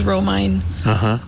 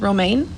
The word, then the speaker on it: Romine: my maiden name because it was romine and they always romaine i am not lettuce i am not an heir to the lettuce empire thank you let us have a conversation about how to say my name right exactly yeah i had